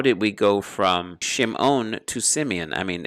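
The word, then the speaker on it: שמעון: Now here's a perfect example of a Shava Nach, because it doesn't sound under the mem. It's Shim. It's not Shimeon. It's Shimon.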